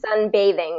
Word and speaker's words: sunbathing: be sunbating on the this one's gonna be sunbathing with that voice th bathing bathing and